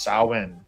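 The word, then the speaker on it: Samhain: Halloween traces back over 2,000 years to the ancient Celtic festival Sa Sam pronounced sin.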